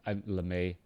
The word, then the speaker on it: LeMei: all related and it just it doesn't make la may um you're pronouncing it well i mean lemay all right thank you very much um i